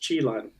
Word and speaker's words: Qilin: Actually, it's pronounced Qilin, which she said that was in the show Supernatural.